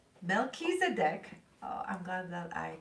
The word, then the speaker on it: Melchizedek: good balance yin and Young milk cheese oh pronounce Mel Keys a deck Melchizedek oh I'm glad that I got the pronunciation